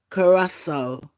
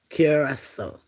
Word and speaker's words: Curaçao: Because I say it how you see it and that is not how you pronounce it.